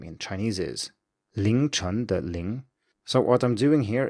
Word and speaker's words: Ling: I need to use this strategy every time I introduce myself because otherwise people will mishar the ling, which is l i n g for lin.